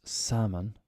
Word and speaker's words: salmon: is silent next is salmon silent l basically silent a at